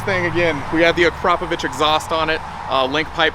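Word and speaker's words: Akrapovič: what we have here is, what's the proper way to pronounce it? Akrapovic.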